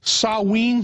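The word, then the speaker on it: Samhain: know the real name I think was called sawe is that the correct the correct pronunciation that's yeah and in the Celtic British Isles yeah sa it's spelled s m ha a i n but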